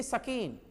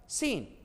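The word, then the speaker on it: scene: सीन, ये कट गया, ये नहीं सकीन, ससीन, ऐसा नहीं ना, 100 बोलना है 2 बार। सीन हमने लिख दिया इसलिए।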